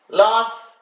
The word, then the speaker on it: laugh: words so once again g8 sounds like f laugh cough enough when your